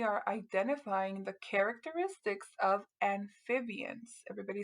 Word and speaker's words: amphibians: It's spelled a little bit different than what we're used to, but if we sound it out together, remember that PH makes the F sound.